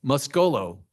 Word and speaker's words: Muscolo: Is it musculo or musculo or mus muscolo? You put an emphasis on the o the sec on the second syllable. Muscolo.